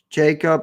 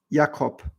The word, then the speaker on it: Jakob: like jacob or jakob so in german my name is pronounced jacob i just say jacob because that's the english pronunciation and it's usually easier for english speakers to understand what i'm saying but usually you say